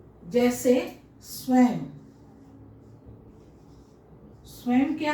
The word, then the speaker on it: स्वयं: संस्कृत भाषा का ये नियम है कि अगर किसी शब्द के अंतिम वर्ण के ऊपर में अगर ये अनुनासिक लगा हुआ है तो उसका उच्चारण म के रूप में होगा।